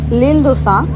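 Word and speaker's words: L'Île-de-Sein: আমি আসলে আপনাদেরকে জায়গাটার নাম ভুল বলেছিলাম, এটার নাম হচ্ছে লিলদোসা, আমি সম্ভবত ইলদোসা বলেছি, প্রোনাউন্সিয়েশনে একটু ডিফারেন্স হয়ে গেছিলো।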